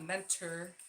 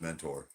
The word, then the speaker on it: Mentor: And it's not mentor. It's mentor.